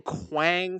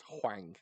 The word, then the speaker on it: Huang: name again Huang jangli I've been saying Quang for like three years that's fine it's Huang yeah is it Wang